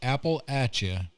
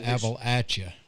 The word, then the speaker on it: Appalachian: to say it right there's a wrong way and a right way to say appalachian it's apple atcha it's not apple i don't mean apples appalachian appalachian it's apple atcha so and he corrected